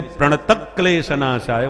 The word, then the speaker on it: प्रणत क्लेश नाशाय: तो क्योंकि आधे क्लेश शब्द है इसलिए प्रणत क्लेश नाशाय बोला जाता है। प्रणत क्लेश विसर्ग नहीं है।